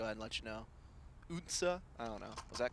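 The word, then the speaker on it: Odense: Unsa? I don't know. Was that close? Yeah, maybe it's better than... I got nothing. Unsa.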